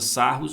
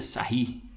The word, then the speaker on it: Sarrus: de Sarrus de sair a gente pronuncia aí sair viu a gente usa sarros mas a pronúncia mais correta seria sair tá aí isso para